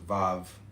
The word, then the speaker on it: vav: Comment and vav vav pronounced vav transcribed as vau.